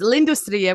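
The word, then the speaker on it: L'Industrie: that's turned out that's how you say it's lindustriya which is on I think it's on South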